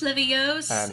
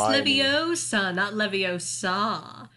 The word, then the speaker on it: Leviosa: they're having charms class it's slivios it's leviosa i do i do